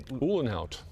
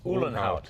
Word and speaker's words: Uhlenhaut: Uhlenhaut. Uhlenhaut.